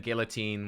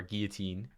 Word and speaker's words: guillotine: Or then guillotine, which, or guillotine, as I think the correct pronunciation is guillotine.